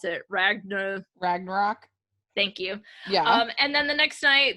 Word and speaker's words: Ragnarok: i watched thor i never know how to pronounce it ragna ragnarok thank you yeah and then the next night